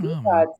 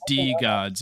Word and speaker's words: DeGods: Wait, where does the name DeGods come from? And is it DeGod? Degenerate gods. Oh, It's DeGods, yeah.